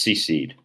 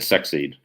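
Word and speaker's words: secede: lincoln did that through tyranny all right it's pronounced sea seed um i always said sex seed but um that's how we pronounce it in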